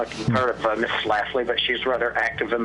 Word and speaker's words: Schlafly: I don't know if you've heard of Miss Schlafly, but she's rather active in the extreme right. Who did you spell that, or say it again, please?